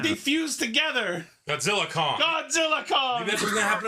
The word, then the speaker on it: Godzilla x Kong: new Empire March 27th you don't pronounce the X it's like Hunter Hunter wait so it's just called Godzilla Kong Godzilla cross Kong yeah yeah the the